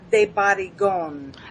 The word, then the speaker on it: de Barrigón: It's de Barrigón. Barrigón. Got it. Oh my gosh. That's De exotic. Barrigón. Is that French or what Spanish? is? It's the Spanish name.